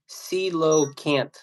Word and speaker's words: coelacanth: It's pronounced coelacanth.